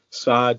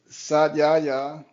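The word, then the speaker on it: Svadhyaya: I'm pronouncing it wrong, Sod Sport. Did I pronounce that okay? Can you correct me? Yeah. So it's Sadyaya. Yes. Sadyaya Sport.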